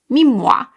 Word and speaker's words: Mimmua: supposed to be pronounced Me Moah because it's supposed to sound like Moah, like a kiss or blowing a kiss because the philosophy behind the brand is that it's going to give you kissable skin.